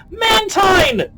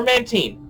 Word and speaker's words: Mantine: talk about deliberate anymore mantine or mantine both pronunciations are correct yes uh okay here